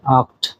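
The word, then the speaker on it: acht: বলা হয় জিভেন জিভেন আট কে বলা হয় আক্ট আক্ট নয় কে বলা হয় নয়েন এবং টেন কে বলা হয় সেন আপনারা এই উচ্চারণ গুলি সহ দেখবেন আমি আবারো শুরু থেকে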